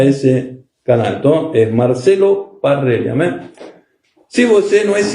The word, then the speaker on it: Parrella: Parrella se escribe P-A-R-R-E-L-L-A, Parrella. ¿Por qué falo eso? Porque siempre aparece Perela.